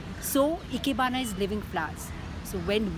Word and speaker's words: Ikebana: means to live and Hana which is pronounced as bana is the flowers so Ikebana is living Flats so when we do Ikebana we you know it